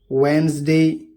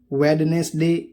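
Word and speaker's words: Wednesday: Handkerchief रुमाल, sandwich, वेंसडे, sandwich नहीं बोलेंगे, वेडनेसडे नहीं बोलेंगे, वेंसडे।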